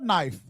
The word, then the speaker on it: knife: He said, "That is cut knife." Cut knife. She said, "Well, the K is silent."